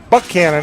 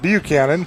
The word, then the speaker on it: Buchanan: Had to go through Carrollton and Roopville and Bremen and Buchanan, as I'm told it's pronounced, not Buchanan.